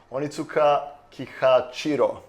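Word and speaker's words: Onitsuka Kihachiro: I don't want to mess this up so onitsuka chiro yeah that's what the okay you didn't correct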